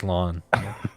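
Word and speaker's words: Slann: I think it's Slon. Like I mowed my Slon.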